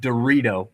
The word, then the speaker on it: Dorito: Our guy, Nick Dorito, probably one of the best last names in all of college baseball. Not spelled like the chip, but pronounced the same way.